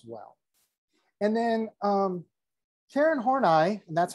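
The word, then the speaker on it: Horney: carl young as well and then um karen hornai and that's how you pronounce her name hornai um she agreed with young about um individuals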